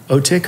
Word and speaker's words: Otik: really look up to, is Otik, or you might pronounce it Otik, O-T-I-K, and Cameo Blush are two UK artists I really, really like right now.